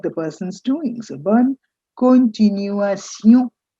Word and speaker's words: continuation: It's time perhaps I made you notice that all these words ending in a tion, which we normally pronounce in English as shun, whether it's nation or continuation, they become sion in French.